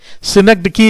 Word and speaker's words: synecdoche: इसको सिनेक्डेकी इज the correct pronunciation of this word.